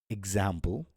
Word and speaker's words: example: For stressed syllables, when X comes before a stressed syllable, it makes a GZ sound. So the example would be example, just as I said, or examine. And similarly, exist.